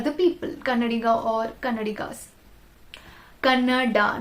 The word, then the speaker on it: Kannada: Kannada, not Kannad. I have seen so many influencers pronounce that as Kannad. And there is an extra I. Why do you pronounce it as Kannad?